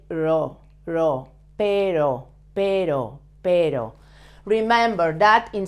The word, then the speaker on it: pero: And notice that perro, dog, has a double R, but this word, pero, that means but, pero has a soft sound.